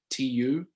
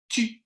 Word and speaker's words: tu: And it took me years to be able to say tu correctly, which is more like tu instead of tu. Like, I thought it rhymed with vu, but whoa, way off there.